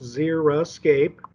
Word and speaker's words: xeriscape: call a xeriscape and it is pronounced zera escape and there are actually